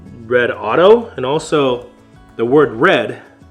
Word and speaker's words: Redodo: the company red Auto I've heard it pronounced rodoto redo but I don't know for sure but I believe it should be red Auto for a couple of reasons you guys can be